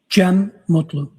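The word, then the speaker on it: Cem Mutlu: Jim Mutlu.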